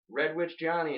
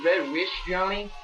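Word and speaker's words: RedWitch Johnny: been spelled wrong like people always say red wish Johnny you're like there's a te in or or witch yeah like or they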